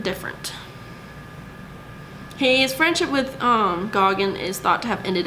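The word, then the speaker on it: Gauguin: close friends actually with paul goggin that's how you say his name um but uh he was actually they both painted together and they met in paris in 1887.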